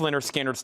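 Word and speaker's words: Lynyrd Skynyrd: Pronounced Leonard Skinner's, $36.99.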